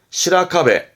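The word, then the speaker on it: 白壁: 중요하진 않습니다만, 포인트는 시라 발음이 있다라는 거. 그래서 어떤 게 있냐 그러면, 벽자입니다. 백벽, 즉, 하얀 벽입니다. 시라카베, 시라카베.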